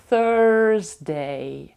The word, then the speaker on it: Thursday: wedesday wedesday wedesday середа Thursday і тут у нас TH вимовляється як А я зробила пару гарних відео про вимовляння звуків будь ласка їх продивіться Вони я дам посилання під цим відео Thursday і американська англійська проговорює букву R звук і я говорю Thursday Thursday тут трошки тяжко вимовляти